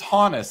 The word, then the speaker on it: Honus: And it said it said to me, it said it's it's ho like ho. Like it's honest, right?